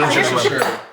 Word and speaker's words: Worcestershire: Worcestershire. You're guessing Worcestershire.